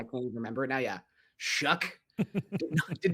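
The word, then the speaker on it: Shough: Yeah, Shook. Did not realize that's how that was pronounced.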